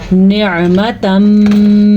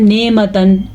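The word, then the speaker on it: نعمة: आइन की तलफ़्फ़ुज़ का ख़ास ख्याल रखना है क्योंकि आइन हलक से निकलता है और इसका एक मखसूस मखरज है। अक्सर लोग पढ़ते हैं नेमतन, आप गलत पढ़ रहे हैं अगर आप ऐसा पढ़ें। नेमतन नहीं है, ये क्या है, निअमतम मिन इंदिना।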